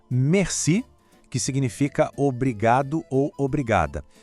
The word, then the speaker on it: merci: O detalhe da pronúncia é, de novo, o R. Lembra? Aquele som que vem da garganta. Merci.